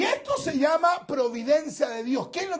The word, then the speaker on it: Providencia: La comuna de Providencia es algunos nos le dicen Providencia. Providencia, le ponen como un tono. Y es Providencia, o sea, se pronuncia tal cual se escribe.